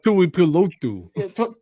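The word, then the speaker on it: Tuipulotu: I'm gonna butcher it, but like Tui Pilotu. Tuli Pilotu. I actually don't think that's terrible. It No, that's pretty close.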